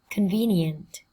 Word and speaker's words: convenient: Convenient, convenient. Trọng âm của từ này rơi vào tiết thứ hai các em nhé.